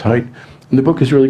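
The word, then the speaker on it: Haidt: guy's name is Jonathan hight it's spelled H AI D T but it's pronounced height and the book is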